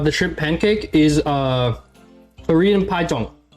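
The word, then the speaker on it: 파전: Is Korean pajeong. It's spelled Pajeon.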